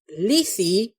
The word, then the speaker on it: Lethe: Apparently, the water of Lethe, according to Google, that is how it's pronounced, it is from the Greek mythology.